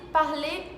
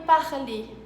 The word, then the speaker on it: parler: E com N tem um som de en, como na frase parler en français, en.